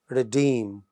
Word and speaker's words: redeem: But in the second line, the word redeem, it is stressed on the second syllable.